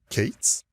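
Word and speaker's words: K8s: letters and then the number s and it's pronounced katees so kubernetes is a project that was created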